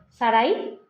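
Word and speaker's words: Sarai: que a Saray sar Cómo se dice Saraí Sara se pronuncia Sara Bueno pues Sara Sara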